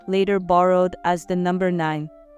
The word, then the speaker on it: 九: This character is the 3rd tone, so it should be 9.